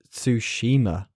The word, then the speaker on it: Ghost of Tsushima: resistance shadow to colossus horizon and ghost of tsushima that's how you pronounce it davey thank you very much so